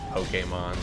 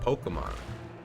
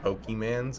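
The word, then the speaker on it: Pokémon: I remember being a kid and them pronouncing it Pokemon. Pokemon. And then they got adamant that it's Pokemon. Pocket Monster. Pokemon. And then I said Pokemans, and I uploaded a TikTok of it, and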